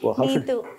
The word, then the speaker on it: Neethu: Neethu. In Kerala, there is an H along with T for the pronunciation Ta.